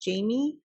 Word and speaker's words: Jaime: It's spelled like Jaime, but she's from Canada, so I'm thinking it's just Jamie.